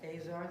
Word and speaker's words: Azar: Along those lines, excuse me, I also have written a letter to Secretary Azar, is that how you pronounce it? Azar, thank you.